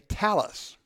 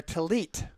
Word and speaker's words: tallit: T on the end the Ashkenazi's wear a Tallis prayer cloth prayer rap Sephardic Jews were a tallit prayer Rebbe because the letter that one group pronounces and asked the other group pronounces of the T just an example as